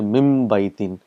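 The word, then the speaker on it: مِنْ بَيْتٍ: So if you're doing min baytin. So there is a little bit of pronouncing, a little bit of tajweed here. You will say mim baytin. So mim and ba is pronounced together.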